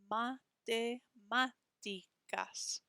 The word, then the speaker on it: matemáticas: Matemáticas. Matemáticas. Hear how that A with the accent mark is a little bit stronger than the other syllables?